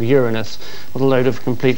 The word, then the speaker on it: Uranus: It's that all of them have had heavenly bodies named after them, except the planet Uranus, or Uranus, as it now seems to be called. When we telephoned the BBC pronunciation unit, they denied there'd ever been a